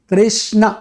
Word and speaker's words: कृष्ण: हाँ कहीं रामा, जबकि what is the real pronunciation, it इज राम कृष्ण।